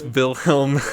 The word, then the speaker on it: Wilhelm: __ ] um because that's how you pronounce the W in the German language it's Wilhelm Damien Rosenwald I feel